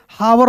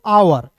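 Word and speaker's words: hour: देखते हैं last point H ओ यू आर तो इसे हावर नहीं पढ़ेंगे इसे पढ़ेंगे दोस्तों आवर एच का ह नहीं होता है।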